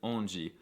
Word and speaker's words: onde: However, the cutest noises by far that come out of Brazilians is the way that they pronounce the DE at the end of words, like in onde, verdade, saúde, GGG.